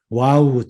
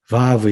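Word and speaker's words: vav: 이제 마브 가 있습니다 와우 또는 박 현재 이스라엘 사람들은 이제 막 이렇게 바로 합니다 고대에도 지역에 따라서 문화에 따라서 무위로 발음했다 는 것이 있고 w 로우 으로 바라봤던 것이 있습니까 그런데 여러분들이 이걸 그냥 바 하고 이렇게 현대 이스라엘 아 언어처럼 바브 이렇게 바로 하시면 탑니다 표기는 떠 그렸다는 뭐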